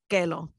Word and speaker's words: Kellogg: My first and only pet was a golden retriever named Kellogg, which we pronounce Kelo.